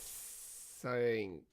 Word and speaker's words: Psync: Dude is working on a game called Project Sync. Sync? Spell it. PSYNC. Really? Yeah, they go be sync.